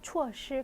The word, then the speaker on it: 措施: 措施라고 읽어요. 措施.